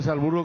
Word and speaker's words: Salzburgo: Tiene que pronunciar Salzburgo como los austríacos.